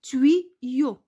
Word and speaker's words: tuyau: Alors, au lieu d'écrire deux I, on écrit Y. Alors, j'espère que vous avez compris cette partie-là. On continue. Quand le son I s'écrit Y, le Y généralement joue le rôle de deux I.